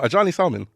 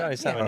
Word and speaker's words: Adjani Salmon: Actually, no, Adjani Salmon. Yeah, John. Adjani Salmon, yeah. Okay. Because sometimes I worry about my pronunciation.